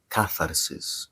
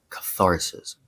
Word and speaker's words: catharsis: lead to something called catharsis in Greek. In English, we call this catharsis, but it's pronounced actually catharsis.